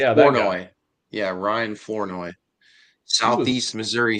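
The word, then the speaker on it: Flournoy: Florenoi. Yeah. Florenoi.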